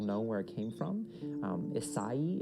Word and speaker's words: Isai: Isai is how you would pronounce that, but it's just, Isaiah is just kind of what he's called, and it sounds like it's this thing that it's not.